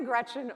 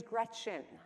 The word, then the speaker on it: Gretchen: So Grandma Gretchen was always adamant. Your name is Gretchen. It is not Gretch. That rhymes with wretch, and that is not pretty.